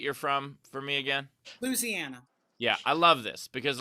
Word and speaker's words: Louisiana: You got to put the word lose into it.